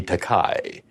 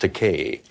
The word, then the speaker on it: Takei: into Gene roddenberry's office first of all he mispronounced my surname he called me takai but I corrected that I said my name is pronounced Takei but I don't object to Kai because that's